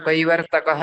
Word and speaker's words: कैवर्तकः: त्यसैले यसमा हजुरले हजुर कैवर्तकः यस्तो पनि उच्चारण गर्न सक्नुहुन्छ, कैवर्तक केशव यस्तो पनि उच्चारण गर्न सक्नुहुन्छ, ठिक छ।